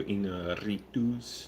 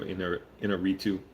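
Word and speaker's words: Iñárritu: I'm not saying it like that to make fun of his name. I actually try and pronounce Spanish, or in this Mexican name, but correctly. But Alejandro Inarritu, I'll say it more American way.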